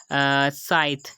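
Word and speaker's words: scythe: है उसके बाद आई आया तो हमने इसकी प्रोनाउंसिएशन की साइंस यानी कि सीन से की। उसके बाद थर्ड एग्जाम्पल है साइथ।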